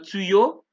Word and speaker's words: tuyau: Ojo, recuerden que AU es igual que esta, se pronuncia O y EU se pronuncia E. Entonces, ejemplo, un tuyau, des tuyaux, ¿sí?